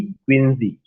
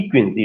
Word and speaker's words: Quincey: Romantic as में एक critic आते हैं और एसेइस्ट भी हैं, उनका नाम है Thomas D क्विंजी। यू can note down Thomas. जो आप लोग थॉमस प्रोनाउंसिएशन कहते हैं, वो थॉमस प्रोनाउंसिएशन नहीं होगा, टॉमस होगा।